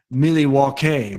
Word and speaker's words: Milwaukee: Are any of those conventions in Milwaukee, or as it's pronounced, Milwaukee, which is Algonquin for the good land?